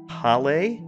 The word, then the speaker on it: Hale: Great to be back and part of the team again, sir, but it's actually pronounced Hale.